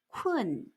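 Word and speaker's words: 困: 피곤의 곤자를 쓰고 중국어로 KUN 사성, 쿤 하고 소리냅니다.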